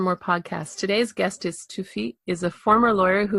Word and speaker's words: Tsufit: So I'll just tell you a funny story, and then I'll tell you how you pronounce my name. But actually, my name is Tsufit.